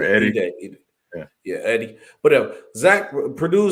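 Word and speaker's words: Edey: Purdue, Zach Eden. Wow, man, I said it wrong. What's his last name again? I'm sorry. I think it's pronounced Ede or Eddie.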